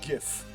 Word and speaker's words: GIF: that the liquor jit there's a tendency to pronounce it jin and if the liquor gin did not exist then we would uh we would pronounce that uh graphical animation was it called um graphic interchange format we would pronounce that gif but sometimes we pronounce it jif because jin anyway um and then